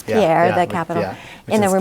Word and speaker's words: Pierre: Pierre, which is how they pronounce Pierre, the capital.